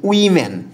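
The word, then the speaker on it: women: ডবলিউ ও এমই এন এটার উচ্চারণটা কিন্তু ওম্যান না এটা হচ্ছে উইম্যান আর ডব উইম্যান মানে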